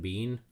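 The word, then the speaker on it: Biehn: So the podcast is called The Water Cooler, and so the reviewer's name is Kaylin Bean. Bean is spelled B-I-E-H-N. However, obviously it sounds like the food bean.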